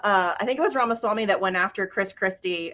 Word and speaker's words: Ramaswamy: don't know how to say his last name ramaswamy Rama Swami so thank you for that um but what